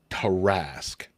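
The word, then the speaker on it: Tarrasque: This is the official pronunciation. Terrasque.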